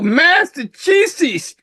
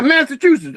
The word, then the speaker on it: Massachusetts: Oh, Massachusetts. Oh yeah, Massachusetts. Okay, How do you pronounce it?